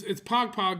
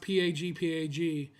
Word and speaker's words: pagpag: So it's actually it's Pog Pog, but it's pronounced Pagpag, and it's food that